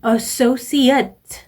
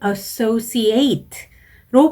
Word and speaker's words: associate: Airlines라는 단어가 나왔고 이 associate 이 나왔는데요. 똑같은 스펠링인데 어떨 때에는 associate 으로 발음하고 어떨 때는 associate로 발음을 하거든요.